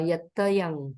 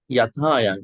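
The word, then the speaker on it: yathāyaṃ: Nibanti Dira Yatayang Padipo. Not Yatayang. There's a long A here. Should be there? Nibanti Dira Yatayang Padipo. Yeah, it should be Yathayang.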